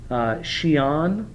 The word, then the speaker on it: Xi'an: The capital was now, let me make sure I'm pronouncing it right. Chinese society, they don't have it. Xi'an is the capital.